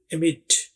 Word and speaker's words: amid: ये कम यूज होता है लेकिन ये भी इस्तेमाल में आ जाता है, एमिड, एमिड। ये देखिए ए यहाँ पर ए वाई जैसी आवाज है, ए, और MOD से निकलने वाली आवाज मिड।